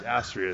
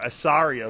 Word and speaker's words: Astria: It's Astria is the real name, yeah. A lot of people, mispronounce it. I have a more intimate relationship with her. I wish I did, maybe. Wishful thinking. No, but I think people call her Asaria, but she doesn't correct